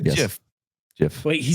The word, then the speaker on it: GIF: way no he said JF JF wait he said JF he said JF like giraffe you yes me and